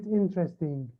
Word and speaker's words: interesting: بنشوف كلمة interesting. نشوف كلمة interesting. one, two, three. الحقيقة هي كاتبين هون 3 مقاطع، but in American English it has 4 syllables.